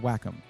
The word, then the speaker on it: Wacom: I use just assigned PDFs with the Wacom pen. Wackom. Sorry, it's pronounced Wackom. I have confirmed that before.